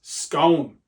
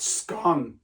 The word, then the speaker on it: scone: uh the baked good I have very strong feelings that it's scone not scone now I don't want